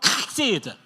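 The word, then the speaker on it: חסד: 히브리어는요, 이 후두음이 발달돼 가지고 이 목젖을 긁어서 나오는 발음이에요.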